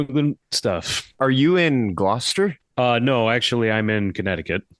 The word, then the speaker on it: Gloucester: And yes, I Googled it to see how to pronounce it because it looks like it's Gloucester.